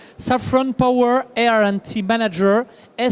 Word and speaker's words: Safran: ça ouvre sa frange décide le prononcé en anglais saffron power and team manager